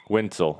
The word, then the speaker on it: Wentzel: name Quinn one pool Wintel I keep I know a guy named Stu Wetzel and I keep leaving off the end so my apologies so